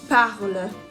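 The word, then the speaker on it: parlent: Il ou elle parle. Nous parlons. Vous parlez. Il parle. Attention, we don't pronounce the ENT at the end of il parle.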